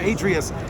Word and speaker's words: Atreus: and he's got the Atreus Keyboardio. Keyboardio Atreus, yep. I'm gonna say it right, I'm gonna say it better, it's the Keyboardio Adrius.